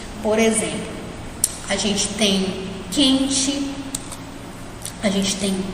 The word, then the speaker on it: quente: No caso aqui do quente, a gente não fala coente, né? A gente não pronuncia o U, a gente fala quente. É como se esse U nem existisse, né? Como se fosse só o Q e o E.